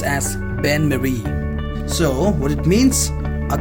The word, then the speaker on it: bain-marie: So this is pronounced as Bain-Marie.